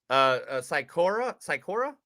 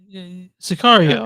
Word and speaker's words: Sicario: What's wrong Hey, with that, Sikora with Okay. Del Toro. You know what I'm Oh, talking about? Sicario.